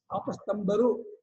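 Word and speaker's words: ಆಪಸ್ತಂಬ: ಮಹಾಪ್ರಾಣ ಹೇಳಬಾರದು ಇದಕ್ಕಲ್ಲ ಹೇಳ್ತಾರೆ ಆಪಸ್ತಂಭ ಅಂತಾರೆ ಆಪಸ್ತಂಭ ಅಲ್ಲ ಆಪಸ್ತಂಭ ರು ಆಪಸ್ತಂಭ ಮಹಾಪ್ರಾಣ ಮಹಾಪ್ರಾಣ ಅಲ್ಲ ಅಲ್ಪಪ್ರಾಣ ಆಪಸ್ತಂಭರು ಆಪಸ್ತವಿಎಲ್ಲ ಅಲ್ಪಪ್ರಾಣ ಹೇಳಬೇಕು ಎಲ್ಲಿ ಮಹಾಪ್ರಾಣ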